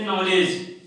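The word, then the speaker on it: knowledge: अब नॉलेज में क्या नहीं पढ़ रहे हैं हम? के नहीं पढ़ रहे हैं। क्या नहीं पढ़ रहे हैं? के नहीं पढ़ रहे हैं, तो के यहाँ साइलेंट है, ठीक है।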